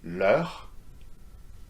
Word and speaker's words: leur: No, same pronunciation whether there is an S or not, okay? So whether it's singular, masculine, feminine, plural, singular, masculine and feminine, they will be pronounced exactly the same way, yeah?